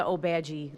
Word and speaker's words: Obagi: So, yeah, it's a Obagi, like police badge, and then.